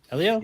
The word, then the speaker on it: Elio: Elio? Yeah, Elio.